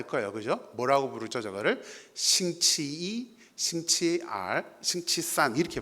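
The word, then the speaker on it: 星期一: 싱치이, 싱치알, 싱치산 이렇게 발음을 합니다.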